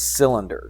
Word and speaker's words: cylinder: English language is kind of weird sometimes, but that C sounds like an S, and the Y is like a I. All right, so it's cylinder.